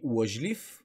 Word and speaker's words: лъжлив: проверим лъжлив е лъжа и нека да не забравяме при лъжлив ударението пада при ито и затова ъ-то се чува като а следващ пример сладкар